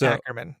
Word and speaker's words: Ackerman: name and you told me, and then I pronounced it wrong immediately right off the bat. It is Ackerman.